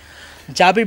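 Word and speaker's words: جابر: जाबिर bin Hayyan जिनको गाबिर बना दिया गया क्योंकि प्रोनाउंसिएशन की वजह से।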